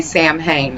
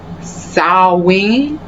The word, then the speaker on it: Samhain: If I were pronouncing it my way, I would say Samhain. I was informed that that is not proper. Samhain. I'm giving it my best shot.